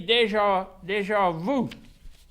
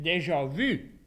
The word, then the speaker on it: déjà vu: C'est pour ça que ça dit déjà vu. C'est supposé d'être déjà vu. You see, they can't pronounce the you.